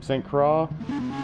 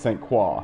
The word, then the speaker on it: St. Croix: at saint paul uh i'm not gonna say the tracks name saint craw so i say it wrong so if i say saint croix it's saint qua okay so it's saint